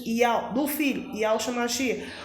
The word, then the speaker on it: Yahweh: Então o nome do nosso Criador é Yahweh, Yud Re Vav Re, da pronúncia Yahweh, do Filho, Yahweh Shemashia.